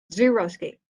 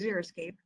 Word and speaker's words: xeriscape: next street over so zero escape don't pronounce it zero escape it's xeriscape because this is a